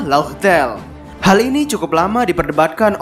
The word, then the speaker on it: Laugh Tale: Piece yaitu yang sebelumnya dalam pengucapan Jepangnya adalah raftel pada pengucapan alfabetnya adalah laugtel hal ini cukup lama